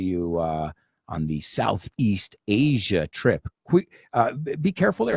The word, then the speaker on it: Asia: on the South East Asia trip quick be careful there are a lot of people say I see aright it's not hacia its asia asia great southeast asia and